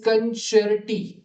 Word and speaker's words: concerti: So 13 मध्ये libretto is pronounced libretto, libretti is libretti, libretti, concerto is concerto, and concerti is concerti, right?